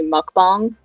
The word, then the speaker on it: mukbang: Like it should be mukbang. That's the proper way to pronounce it.